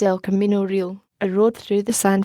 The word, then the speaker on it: real: even though it isn't really north-south many places. El Camino Real runs right past Stanford University and so is familiar to hackers. The Spanish word real, which has 2 syllables, /real/ means royal.